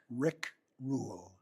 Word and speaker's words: Rick Rule: What's what's your name uh properly pronounced? Rick Rule.